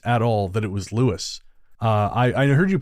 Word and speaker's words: Lewes: I did not realize at all that it was Lewes. I heard you pronounce it like that, and I thought, oh,